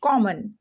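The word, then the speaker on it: common: कॉमन, अब इसको कॉम, इसको कॉम, फिर इसको मन, ऐसे नहीं, कॉमन।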